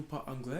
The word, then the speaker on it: parlez: It becomes this, but it's pronounced the same way. Parler. Parler. Est-ce que vous parlez anglais?